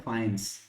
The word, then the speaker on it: faience: Spelling इसकी एक बार ठीक ठाक कर लेते हैं, एफ एफ FAIENCE, ठीक है, फाइंस।